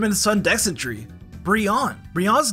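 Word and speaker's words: Brionne: the sun dessentry Breon brion's name could be a reference to Beyonce and Rihanna since it's pronounced Brion and also Brienne is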